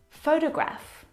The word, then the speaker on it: photograph: these words so in the first example photograph the first syllable is the stressed syllable you can hear it very clearly photograph o photograph the second syllable is unstressed and it is uh reduced down to the schwas sound T photograph photograph it's very short it's very lazy it's not very strong at all now if you look at